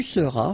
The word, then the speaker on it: seras: Je serai, tu seras, final S not pronounced, il sera, elle sera,